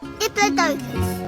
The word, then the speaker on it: Diplodocus: This is Diplodocus, or as it's sometimes pronounced, Diplodocus.